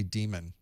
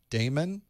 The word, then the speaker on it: daemon: have people that say damon because it's spelled that way but that actually is what we ended up calling it because it was spelled that way even though it's pronounced demon so it's okay to